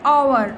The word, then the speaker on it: hour: Okay, and here is like hour. Okay, so hour start with a consonant. Okay, however h is silent Therefore, the word actually begins with an O sound.